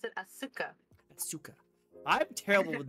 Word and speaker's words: Asuka: I'm surprised you didn't pronounce it Asuka.